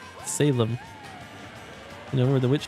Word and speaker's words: Salem: a new town of salum game damn it Eevee I told you how to pronounce it sal sal Sigma got it right Salem you know where the